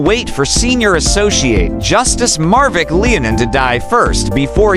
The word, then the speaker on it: Marvic: Gadon is open about his personal grudge against the magistrate, vexing him by mispronouncing his first name from Marvick to Marivic, and would sometimes label